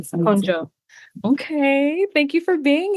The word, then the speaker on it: Konjo: Can you pronounce it for the people, please? Of course. first name, Konjo, last name. Konjo.